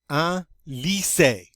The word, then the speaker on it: un lycée: Remember, Y is considered an I. It's pronounced like an I. The E with the accent aigu over it is always pronounced A. Therefore, we get un lycée.